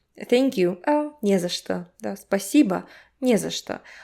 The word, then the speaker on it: не за что: First of all, this че sounds like sh, right? Sh, что. And the vowel reduction. So the last o is not stressed. This не drags the entire word to it. Не за что. Не за что. You see, only the first syllable is strong.